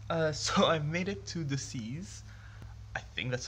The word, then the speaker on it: Decize: So I made it to Decize. I think that's how you pronounce it. It's Decize.